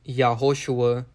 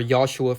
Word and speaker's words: Yahoshua: His real name is actually pronounced Yahoshua, or Yahshua for short. So that's the correct pronunciation of Jesus in Hebrew.